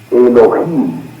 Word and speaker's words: Elohim: De manera que viene su pronunciación exacta es Elohim.